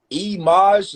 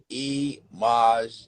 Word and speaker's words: Eimaj: Eimaj, is that how you say it? Yes. Eimaj, yo, very creative, very creative.